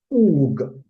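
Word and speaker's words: פוג: that word is, that root Hebrew word is transliterated to English as P-O-W-G, and it is pronounced oog, and that means to be sluggish, right?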